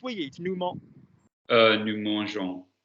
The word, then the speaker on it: mangeons: Nous mangeons. How would you spell that, please? Mangeons. Good, because if we stuck to the literal ending, you'd have mongon, which is altogether different.